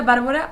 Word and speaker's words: Bárbara: para platicarlos bien, pues vi que siempre tenemos el acento en la primera sílaba y lo pensé y dije, ay, sí es cierto, Ajá.